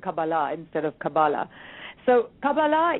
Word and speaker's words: Kabbalah: So obviously I'm pronouncing this incorrectly because you're saying Kabbalah instead of Kabbalah.